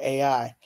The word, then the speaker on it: Ai: Of course, Amiri Baraka, Larry Neal, Askia Toure, Sonia Sanchez, Nikki Giovanni, Carolyn Rogers, the poet, I believe her name is pronounced AI.